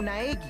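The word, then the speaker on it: Naegi: My name's Naagi. Okay, I'm glad the voice acting was here for this specific sentence because I was probably not going to pronounce that last name. Naeki.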